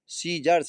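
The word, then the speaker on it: scissors: पहले बता चुका हूं इसमें कि अगर एस के बाद शी आया हो और उसके बाद अगर आई या ई है तो हमेशा शी हमारा साइलेंट हो जाता है। सीजर्स यहां इसलिए तो मैंने प्रोनाउंसिएशन लिख दिया है।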